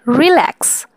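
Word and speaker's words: relax: যেমন রিল্যাক্স, decide, begin. দেখো, তুমি যদি রিল্যাক্স বলো প্রথমে রিটা অনেক রিল্যাক্সে উচ্চারণ হচ্ছে, অর্থাৎ এখানে তেমন একটা চাপ পড়ছে না।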